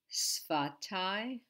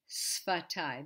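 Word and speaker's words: שפתי: Sfatai. This is not easy. We're not used to saying F after S. Sfa. Sfatai. Sfatai.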